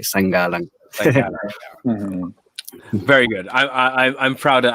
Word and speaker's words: Sangalang: Sangalang. Hello. Hey. How's it going? Hey. Did I say your last name right? You did, actually. You pronounced it the Filipino way.